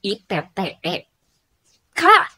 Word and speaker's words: iptek: contoh yang lain misal iptek bukan ipte k tapi iptek atau ilmu pengetahuan ilmu